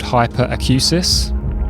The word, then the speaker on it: hyperacusis: Um, you can develop something called hyperacusis. I think I've pronounced that correctly.